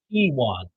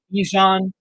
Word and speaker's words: Ewan: It is Ewan. Ewan. It's like Obi-Wan minus the Obi. Add E. A lot of people have said Ejon. Jake Bolden from the Blue Raider podcast one time said Keone.